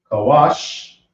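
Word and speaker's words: כוש: Now we have Kush, which is pronounced Kawash. Now this is a Wa and a Sha connected. So now let's write the Ka.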